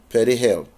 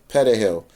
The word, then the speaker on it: perejil: To identify the Haitians, Trujillo ordered each person to say the Spanish word for parsley, perejil. If the person could properly roll the R in the word, they were assumed to be of Spanish and Dominican descent, non-black, non-Haitian, and were spared.